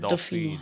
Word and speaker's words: Dauphinois: Oh, it's Like dolphin, but Dauphinois. Dauphinois.